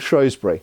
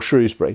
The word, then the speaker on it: Shrewsbury: In 1403, was the Battle of Shrewsbury, or Shrewsbury, depending how you want to pronounce that.